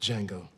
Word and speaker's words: Django: what's your name d Jango can you spell it d j a n g o the D is silent that's funny what's your